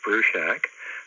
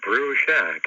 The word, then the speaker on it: Bruchac: for you okay hello my name is Joseph Bru Shack that's Bru Shack as in boiling up a small building and